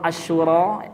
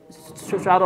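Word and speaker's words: الشورى: Surah Asyura ayat 27. Bukan suara, Pak. Ya, beda suy dengan asyuara dengan sura beda ya. Syura itu arti musyawarah ya.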